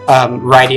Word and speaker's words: Rydia: follow for example is very like Rydia focused righty as some people pronounce but it's is like